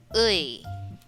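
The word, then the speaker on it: ㅢ: particular sound or diphthong, it actually has three different sounds. It can be uy, or sometimes you get the sound uy by forming u plus e. It becomes uy. But sometimes we pronounce it in three different ways. So we have uy, we have e. Sometimes it sounds as e, depending on its location in the word.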